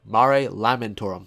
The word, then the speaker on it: Mare Lamentorum: on the moon uh mari lotorum i believe i'm saying that right lamentorum mare lamentorum that that's that's how you say it there you go